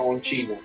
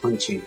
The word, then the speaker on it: Oncino: Se escribe con C, se pronuncia Oncino. Oncino.